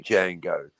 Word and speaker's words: Django: Well, it's like the it's like the D in Django. silent.